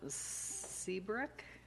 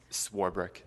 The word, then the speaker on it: Swarbrick: Next speaker does have it circled, Seabrick. Is that pronounced correctly? Swarbrick.